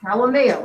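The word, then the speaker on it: Haumea: And the other one is pronounced Halimea, which is also Hawaiian.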